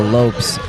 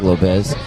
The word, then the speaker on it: Lopes: Should go on TikTok live Usually one syllable, Lopes, but I'll take Lopez.